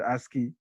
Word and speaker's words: ASCII: Another 8-bit code known as American Standard Code for Information Interchange, pronounced as ASCII, was originally designed as 7-bit code.